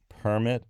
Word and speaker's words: permit: know interchangeably and that's 'per-mit and per-'mit usually mostly the permit is the is the noun so have you pulled